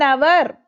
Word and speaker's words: hour: An hour. Okay, HOUR. H is silent there.